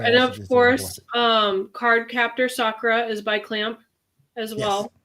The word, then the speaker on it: Sakura: Um you because you call it Sakura. I call it Sakura. Maybe I'm Maybe I'm reading it wrong. I think it's just the pronunciation. The the proper pronunciation in Japanese is Sakura.